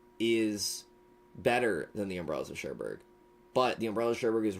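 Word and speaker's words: Cherbourg: Sherberg.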